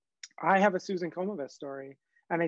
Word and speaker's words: Komives: Susan Komives.